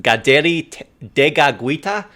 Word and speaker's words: Kateri Tekakwitha: The first saint that we have is Saint Kateri Tekakwitha, which apparently is pronounced in the Mohawk. It's pronounced Gaderi Degagwita, which I am going to completely fumble over, so bear with me with that.